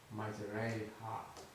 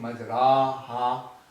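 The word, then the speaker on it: مجريها: Majraiha. Majraiha. So you are not saying majraha. You will twist your voice in pronouncing the alif and incline the alif towards the letter ya.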